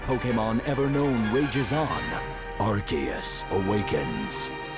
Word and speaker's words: Arceus: While the battle among three of the mightiest Pokémon ever known rages on, Archus awakens. Uh, it kind of sounds like Archus, but we don't fully buy it.